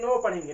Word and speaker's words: know: क्या पढ़ते हैं, KNOW, के नो पढ़ेंगे नहीं, इसको यहाँ पे के आपका साइलेंट है। क्यों साइलेंट है, क्योंकि यहाँ पे एन से पहले के आया है, इसको हम नो पढ़ेंगे, NOW, इसको क्या पढ़ेंगे, नो पढ़ेंगे।